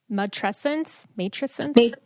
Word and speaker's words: matrescence: I want to touch really quick back on, and I'm going to say it wrong, matrescence.